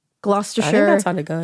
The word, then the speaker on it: Gloucestershire: Gloucestershire.